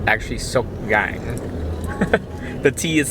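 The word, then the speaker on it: Sóc Trăng: it wrong all this time it's it doesn't pronounce this sook trang it's actually so gang the tea is silent so um we just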